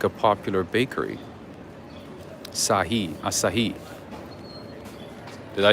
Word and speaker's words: Asahi: to do that as well there you go asahi oh that's how you say it oh thank you me i know you got my back all the time asahi okay what is this there's a bakery here